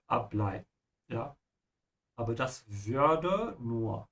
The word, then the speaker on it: ableiten: And ableiten is a separable verb. So emphasize the prefix ab, ableiten.